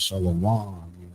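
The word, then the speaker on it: שלום: down on this more usually the final syllable of the word is accented or stressed. So that's just talking about how they stress, like if I want to say shalom, that last consonant or that last pronunciation, they stress shalom.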